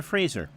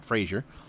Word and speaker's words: Fraser: And Scotty reminds us that Simon Fraser, it is pronounced Fraser, not Frasier, uh is a NCAA Division 2 program in Canada.